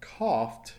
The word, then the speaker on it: coughed: So notice the last sound is an F sound. Is there a vibration in your throat? No. So the past tense of coughed is pronounced with a T.